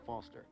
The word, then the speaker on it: Foster: so it does i'm foster he does i'll remember that easy because your name rhymes with fossil and you're old thanks